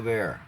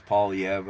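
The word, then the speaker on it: Poilievre: some subscribers Pierre Paul avere I know it's pauliev I habitually pronounce it fanatically I've always liked the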